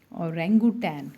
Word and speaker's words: orangutan: तो ये जो थर्ड नंबर वाला है उसका नाम है आपका औरंगुटैन। क्या नाम है इसका, औरंगुटैन, ठीक है जी। औरंगुटैन जो है उसकी स्पेलिंग जो है वो आपकी क्या आएगी, तो